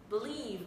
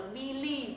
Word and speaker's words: believe: Các bạn đấy là cái âm đầu tiên vẫn là âm y nhưng mà y này là y ngắn các bạn ạ.